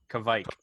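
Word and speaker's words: Kveik: He's a little bit off on his pronunciation. Kishmike. It's okay. we'll ask our in-house Swede. What, Well, I'll tell you Joel, what we're could gonna you say it again? Say it again one more time. Kvike.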